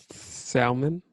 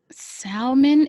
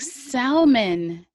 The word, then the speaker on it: salmon: Shout out to the people who pronounce the L in salmon. Salmon. Yo, I've do you heard that. salmon is incorrect, guys. Stop saying salmon.